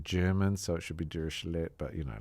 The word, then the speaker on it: Dirichlet: Uh the common way is durishle which is the French way.